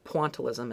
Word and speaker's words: pointillism: And that's this idea of um pointalism or pontalism as sometimes I hear it pronounced.